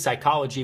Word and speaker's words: psychology: And the 4th P is psychology, but it doesn't sound as cool because the P is silent.